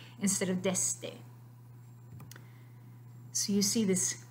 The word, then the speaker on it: desde: So yes, you can say it with an S, desde, but that is not the correct pronunciation of this word in Spanish. Really what you need to be saying is desde.